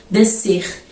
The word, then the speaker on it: descer: E também temos que lembrar que o S muitas vezes em algumas palavras não vai ser pronunciado, tá bom? Como em piscina, descer, a palavra cresçam, floresçam, por exemplo, tem S, C, mas dificilmente pronunciamos o S nessas palavras.